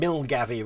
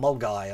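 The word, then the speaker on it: Milngavie: And Milgavy rather than Mulguy and all of those.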